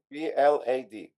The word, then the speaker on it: Vlad: vladislav but uh please just call me Vlad with a V okay Vlad v l v l v l a d VL oh V VL right okay got that